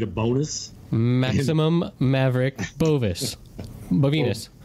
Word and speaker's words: Bovinus: Bovinus. Bovinus. Right. It rhymes with genitalia. It rhymes with small penis, which is back to you and your hairless little balls.